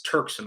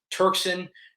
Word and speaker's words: Turkson: ahead and crimp myself it's turksen I'm sorry I've said touching 100 times turkson I'm sorry I said your name wrong it's turkson we're really excited to